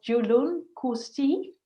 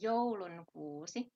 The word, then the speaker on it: joulunkuusi: And today you are going to play for us Julun Kusti. Is that how it is pronounced, Satu? It is supposed to be joulunkuusi. That completely missed the mark. That is like a completely different word.